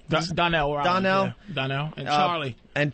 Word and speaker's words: Donnell: Is it Darnell? Donnell.